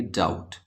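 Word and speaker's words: doubt: silent है नम डाउट डाउट में भी आप देखेंगे बी का ब गायब है यानी बी साइलेंट है तो बी और टी जब भी एक साथ मिलेंगे तो आप बी को नहीं बोलेंगे आप बोलेंगे डाउट अगेन के और एन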